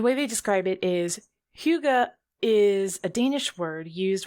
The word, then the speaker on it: hygge: about hygge which is the danish word that's spelled h-y-g-g-e which being hell american i want to pronounce heidi but it's not it's huga which makes me think